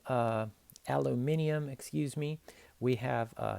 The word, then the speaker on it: aluminium: print out your own periodic table there for aluminum uh aluminium excuse me we have uh six of those